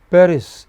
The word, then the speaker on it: Paris: Paris in English is a stressed on the initial syllable.